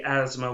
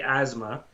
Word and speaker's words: asthma: asthma um that uh they say asthma with a z sound asthma and that's true some people do say asthma um i say asthma which is kind of like i'm trying to say the the th a little bit asthma um yeah but